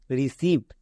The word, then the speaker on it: receive: যেমন দেখো রিসিভ, রিসিভ।